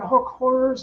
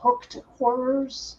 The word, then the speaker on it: hook horrors: Oh, and those creatures, they're hook horrors, not hooked horrors.